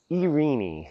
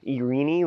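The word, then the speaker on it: εἰρήνη: Now, this Greek word for peace, it has lots of different ways that it can be pronounced. It can be Irene, like I said it. It can be Irene, and however you say it.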